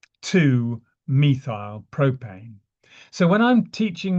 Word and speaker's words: methyl: So the methile some people pronounce it methyl it doesn't matter.